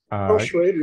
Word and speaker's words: Schroeder: Schroeder, but he says Schrader. Pronounce the Schrader.